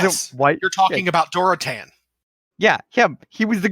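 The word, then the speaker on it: Durotan: So, in my defense, I am currently playing World of Warcraft, and they even pronounce it in game Gul'dan and Duratan. That's exactly how it's pronounced in game.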